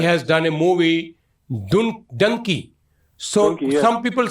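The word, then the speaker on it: Dunki: actor so he has done a movie dun Dunkey so some people say duny but it's actually the meaning actual pronunciation is Dunkey Dunkey mean yeah Dunkey mean that uh how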